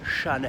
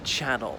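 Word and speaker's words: Chanel: of this stuff look Shanna held don't pronounce it Channel all right it's got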